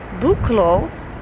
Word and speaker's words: Buchloe: I am in the town of Buchloe.